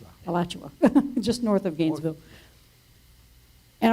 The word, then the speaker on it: Alachua: Michael helped me with the pronunciation. Alachua, just north of Gainesville.